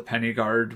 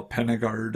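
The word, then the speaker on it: Pen-y-Gwryd: I think the Y is pronounced like a U, I think. So Penna Guard, I think, would be the correct way to say it.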